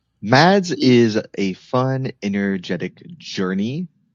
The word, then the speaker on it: MadS: Today we're going to talk about MADS, which I'm pretty sure is pronounced MADS and not M A Ds.